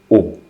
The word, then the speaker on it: au: Okay, because the rule says wherever you see a, the preposition a plus the definite article le, then it becomes o.